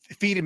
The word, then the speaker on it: Firme: But when I was young, that's what got me to check out the album Firme. Is it Firme or Firm? I don't know. Whatever. Firme is how you would pronounce it.